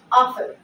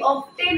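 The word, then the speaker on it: often: এফ টি ই এন অফেন ও এফ টি ই এন অফেন এটা কিন্তু আমরা ভুলেও কোন ভাবেই অফটেইন উচ্চারণ করবো না এটা আমরা বলবো অফেন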